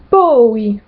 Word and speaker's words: poi: Ensuite, toutes les voyelles se prononcent séparément. Par exemple, dans le prénom Laura, ça se dit Laura, Laura. Jamais, ça se dit mai, mai. Puis, ça se dit poi, poi.